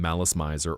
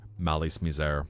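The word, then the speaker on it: Malice Mizer: rockers um originally from Malis Meiser or Malis Mizair depending on how you pronounce it and later Madis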